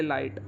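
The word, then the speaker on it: light: फ्लाइट बोलते फ्लाइट similarly अगला word है जैसे लाइट लाइट में भी ग को साइलेंट रखा साउंड सुनाई दे रही है लाइट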